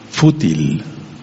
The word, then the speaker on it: fútil: palabra que se llama fútil con acento en la u fútil y fútil quiere